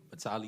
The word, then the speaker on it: Batali: Are you, is it Battalier? Yes, ma'am. How do you say it? Batali, you said it right.